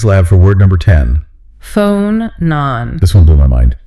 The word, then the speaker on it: phonon: Phonon. This one blew my mind. P-H-O-N-O-N. And it's pronounced F-O-H, non-non. A long O at the start and a shorter O at the end.